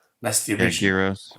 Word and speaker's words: gyros: Again, the original doner is called gyros. That's the original. Gyros. We pronounce it gyros. Yeah, it's called gyro, but gyros, gyros.